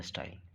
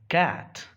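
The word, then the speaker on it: cat: Vacuum, this is the style. इसलिए तो हम कैट को कैट कहते हैं, क्योंकि सी के बाद ए लिखा है। This is कैट। कैट, कैट, नॉट सैट।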